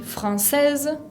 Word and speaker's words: française: Française con la E final que no se pronuncia.